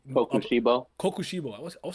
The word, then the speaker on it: Kokushibo: I can't pronounce the nigga's name. Kokushibo.